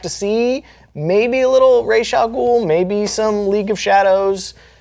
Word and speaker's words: Ra's al Ghul: It's Ra's al Ghul. Yeah, it's Ra's al Ghul.